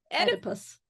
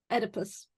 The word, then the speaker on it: Oedipus: How do you pronounce number 4? Oedipus. Oedipus? That's an O. Oedipus.